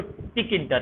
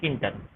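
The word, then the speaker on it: Tkinter: क्या होता है किंटर, KIN, जैसे पढ़ते तो उसको लिखते तो टिक इंटर है, TKINTR, लेकिन उसको प्रोनाउंसिएशन करते हैं किंटर, ठीक है।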